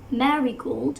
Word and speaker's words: marigold: this three syllables word marigold first one is primary and the last one is the second wrist dress both of them have